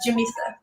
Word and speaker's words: Jamisa: Am I saying that correctly? I don't want to butcher your name, Miss Jamisa. I already butchered the whole tech part, so you get a pass. But you actually did say it right. It's Jamisa. Beautiful, beautiful, beautiful.